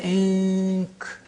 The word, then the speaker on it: ink: But you say ink.